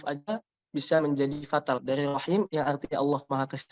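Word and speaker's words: الرحيم: Rahimnya itu Bismillahirrahmanirrahim jadi rajim. Nah itu kan fatal artinya ya. Karena dia mengubah huruf, dengan mengubah satu huruf aja bisa menjadi fatal. Dari rahim yang artinya Allah Maha Kasih Sayang menjadi rajim, terkutuk begitu.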